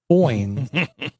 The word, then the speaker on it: Foynes: Foynes.